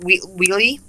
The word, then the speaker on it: Weatly: immersive story of a Jack Weatly, or Weatly, however you like to pronounce his name, but we pronounce it Weatly.